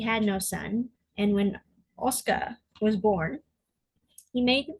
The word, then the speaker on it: Oscar: Oscar, pronounced Oscar or Oskaru in the Japanese dub of the anime, was born into the prestigious Jaget noble family.